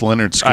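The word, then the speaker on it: Lynyrd Skynyrd: Pronounced Leonard Skinner.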